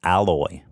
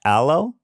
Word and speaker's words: aloe: um it smells great they made it with alloy so there you have it people alloy yeah alloy it smells great no uh no not alloy hello hello e it's pronounced aloe yeah oh that doesn't sound right i could